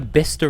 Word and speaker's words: Bicester: you get to England and then you have Lester and and um Bicester and toester no leester bister and toaster that's beautiful g hav